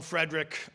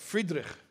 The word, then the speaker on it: Friedrich: is frederick the great we call him frederick in english we say frederick i don't i don't think he called himself frederick frederick because he called himself friedrich you'll forgive my poor german pronunciation but in yiddish is called friedrich which is similar to the german friedrich friedrich he's also called de